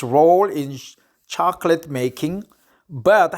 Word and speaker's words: Chocolat: article is from hotel Chocolat I think it's chocolate but in France they pronounce it chocola so Hotel Chocolat so